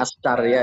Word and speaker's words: Askarya: Askarya ya bacanya.